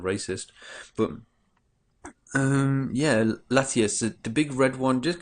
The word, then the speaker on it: Latias: definitely my most favorite is Latias that's Latias that's the red one it's not Latios it's kind of hard